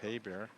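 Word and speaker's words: Geiber: His name is spelled G-E-I-B-E-R, but pronounced Heiber.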